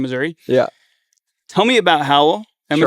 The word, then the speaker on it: HOWL: Tell me about HOWL.